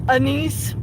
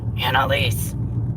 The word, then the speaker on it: Annalise: He said Anise, Anissa. Elise, Elisa, and I'm like, Annalise. It's Annalise. But the pastor still said,